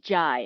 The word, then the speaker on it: Jay: said oh my name's it's spelled j-a-y but it's pronounced jai as in bb-gi you